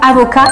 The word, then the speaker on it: avocat: quand même niveau prononciation avocat attention on ne prononce pas le T si c'est un homme